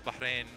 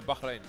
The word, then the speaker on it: Bahrain: Arabia Kuwait uh Qatar Bahrain uh UAE and ran and is that how you say bahin bahin yeah always said bahin bahin you know mean